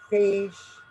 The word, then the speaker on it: phage: um macro means big phage ph is pronounced with an f right factory threat page